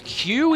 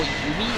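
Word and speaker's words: 弓: recently that HQ because Q is how Yumi is pronounced when it's just when it's in a compound it's an alternate reading of the character for Yumi so hanq is basically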